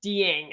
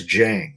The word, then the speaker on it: Dieng: It's Osman Dieng out of New Zealand. Okay, it's Jang. Like, well, I think yes, you're right, Jang. Yeah, Jang. I'm glad you corrected me on this. Jang, to me, if everything